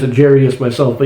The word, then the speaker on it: Jairus: Now, a lot of people have pronounced, I used to pronounce it Jairus myself, but you look at the spelling, and it's the I comes before the R. It's Jairus is how this is pronounced.